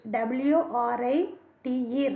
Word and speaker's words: write: W-R-I-T-E, write. எழுதுதல். The right in this word write, W is a silent letter.